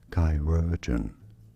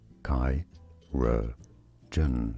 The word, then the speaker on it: chirurgeon: Chirurgeon. Chirurgeon. Stress on the second syllable.